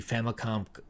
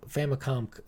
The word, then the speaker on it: Famicom: to the point I gave my copy the famicomp famicom famicom there we go I feel like I